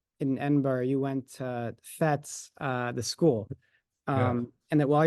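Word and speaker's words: Fettes: We certainly I went to operas when I was at FETS, the way it's pronounced.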